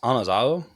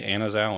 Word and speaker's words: anazao: behind it okay so it's technically pronounced anazado because there isn't like an e sound and like the coin Greek which is really difficult so we pretty much all say Anna's Al anyway just letting everyone